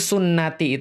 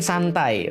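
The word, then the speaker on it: سنتي: Itu kadang-kadang kalau dalam bahasa Arab, itu sunnati itu, bisa dibayangin ya, sunnati itu dari huruf sin, nun, dan ta. Gitu kan.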